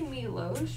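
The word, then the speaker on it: Milosz: you okay so and i say milos because i'm hungarian and it's m-i-l-o-s-z um so i apologize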